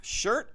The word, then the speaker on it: shirt: i verb that i a letter i should say has a different sound from the spanish eye and just something you have to get used to and it's uh your pronounced shirt and we might say